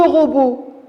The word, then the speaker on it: robot: la lutte là l'autre l'aide qu'ils ne se prononcent pas c'est la famille t à le regarder je vais lire ces mots le robot alors je me suis arrêté à la dernière